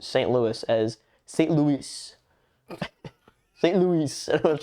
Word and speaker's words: St. Louis: And it was like St. Louis.